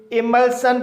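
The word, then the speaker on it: emulsion: invasion पढ़ा जाता है इमल्शन इस वर्ड में एल के बाद एस आई ओ एन आया है इसलिए एस आई ओ एन का उच्चारण शन होगा इसलिए इसे इमल्शन पढ़ा जाएगा इसी तरह से एक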